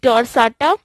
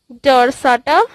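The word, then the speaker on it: dorsata: Indigenous में हम लोग तीन तरह के पढ़ेंगे, Apis डोर्साटा, Apis indica, Apis डोर्साटा, Apis indica and Apis florea. ठीक, Apis डोर्साटा, डोर्सेटा, anything you can pronounce, Apis indica, indica and Apis florea, FLORAE।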